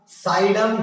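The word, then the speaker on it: Psidium: अमरूद क्या हो जाएगा साइडम गुआवा, इसमें पी जो है वो साइलेंट है, साइडम guava, ji यू ए वी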